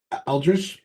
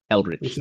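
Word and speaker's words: Eldritch: All right, I'm gonna cast I'm going to keep saying the name wrong, so just bear with me. Eldridge blast. Eldrich.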